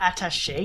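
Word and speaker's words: attaché: about resident evil 4 attache case attached is that how you pronounce it yes okay what is that word what does that mean anyway i don't know i like he has a natash attache yeah it has the little accent on it technically kappa would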